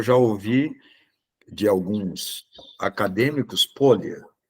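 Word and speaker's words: Pólya: A pronúncia é George Polya, né? Mas a gente fala Polia, que todo mundo fala Polia, né? Mas a pronúncia correta, eu já ouvi de alguns acadêmicos, Polya.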